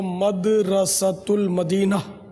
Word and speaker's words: مدرسۃ المدینہ: صحیح تلفظ جو ہے وہ مدرسۃ المدینہ جو انہوں نے بتایا وہی درست ہے.